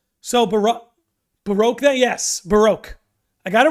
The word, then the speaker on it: Baroque: degree that's important so Baro Baroque that yes Baroque I got it right Baroque I said it